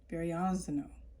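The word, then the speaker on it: Verrazzano: Verrazano. That's how you pronounce.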